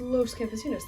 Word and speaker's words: Los Campesinos: in that different way, but it's Spanish. It's Los Campesinos. That's how they say it in Spanish. So I'm gonna go with the people who made up the word in the first place.